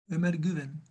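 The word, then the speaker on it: Ömer Güven: Omer Güven, please. Thank you for pronouncing my umlauts.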